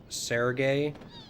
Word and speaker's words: Serge: Always pronounced it the way you are, Surge. Surprised when I heard others say Sergey, which made sense after learning French pronunciations. Yeah, I mean, as far as I know, it's Surge.